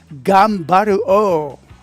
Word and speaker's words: Gunbir-Oh: Super Sentai shows Go-onger Gunbir-Oh. In a Japanese way, Ganbaru-Oh.